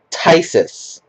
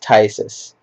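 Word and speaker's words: Phthisis: Okay, this card is pronounced Tysis. Yes, I know that there's not like a Y in there, but it's pronounced Tysis.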